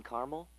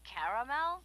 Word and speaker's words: caramel: I'd like it in caramel. Oh, the caramel?